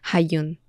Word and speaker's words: Hajun: En japonés los kanji se pronuncian como Hayun.